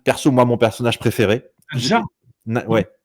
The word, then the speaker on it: Nadia: Nadja. Ouais. Nadia. Ouais, mais ça se prononce Nadia. Enfin, moi, je le prononce Nadia, en tout cas.